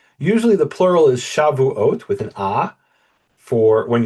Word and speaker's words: Shavuot: So we have Shavuot is oaths, and Shavuot means weeks. And here the emphasis is the same. The emphasis is on the end of the final syllable, ot. Shavuot and Shavuot. The difference is the first syllable is an ah, and it completely changes the meaning.